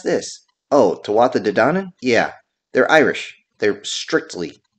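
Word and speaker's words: Tuatha Dé Danann: How do you pronounce this? Oh, Tawatha Dedanan?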